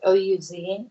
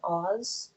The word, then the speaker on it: Ouz: Um, Ouz, I think you say his name like O-U-Z, Oz, or Yeah, Ouz.